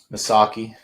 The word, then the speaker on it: Missaukee: Kalkaska, is it Missaukee or Missawaukee? Missaukee. That one I know the pronunciation on.